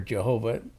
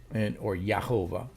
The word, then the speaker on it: Jehovah: Yahweh, or Jehovah, if you want to pronounce it that way. And I've seen good arguments that Jehovah is actually a correct pronunciation of the word, or Yahovah, okay?